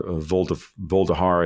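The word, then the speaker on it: Vuhledar: So there's no coincidence here that they're making serious moves on Chasiv Yar and Voldahar, I think is the way you pronounce that one city, and a couple others.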